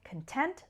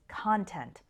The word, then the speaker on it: content: right let's start with content versus content notice the pronunciation difference the stress on the second syllable content and the stress on the first syllable content content is an